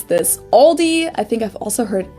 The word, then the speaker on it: Aldi: heard aldi before but i think most people say aldi or they also oh no or they also sometimes add an s that isn't there in the end and say all these really oh yeah i